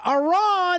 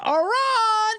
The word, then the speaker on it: Iran: was the president of its pronounced iron iron died in a helicopter